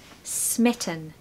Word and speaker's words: smitten: We want a short I and stress the first syllable. Smitten. Smitten. There's a schwa in the second syllable.